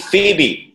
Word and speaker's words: Phoebe: It's, I think, Phoebe. That's what it's pronounced as, right?